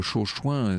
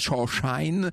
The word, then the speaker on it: Chauchoin: Faut dire que Chauchoin, c'est pas très joli, puis c'est surtout très difficile à prononcer pour les Américains, qui disent Shawshine, c'est-à-dire le cirage, vous savez, le cirage à chaussures.